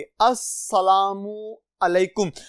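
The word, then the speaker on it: السلام علیکم: तो अजीज तुलबा ये ज़हन में रखिएगा, ये लाम अस्सलामु अलैकुम में नहीं पढ़ी जाती, ये जैसे इंग्लिश में कहते हैं साइलेंट हो जाती है, यहां पे भी ये पढ़ी नहीं जाती।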